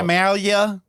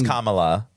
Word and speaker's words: Kamala: Well, some people say it wrong. Right, still. they're Camellia. Camellia. That fucking Indian. No, it's Kamala.